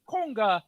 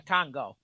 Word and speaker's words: conga: And everyone knows it's a conga, not a Congo.